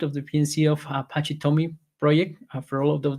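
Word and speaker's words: TomEE: towards Jakarta E10 um and it basically is pronounced a Tommy and is an application server that has around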